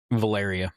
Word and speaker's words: Valeria: Valeria, yeah.